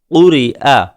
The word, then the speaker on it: قرئ: یلیجو، قتلا، سئلا، قرئ۔ را کے نیچے زیر ہے، اس وجہ سے را باریک ہوگی، قرئ۔ قمری، را باریک ہوگی۔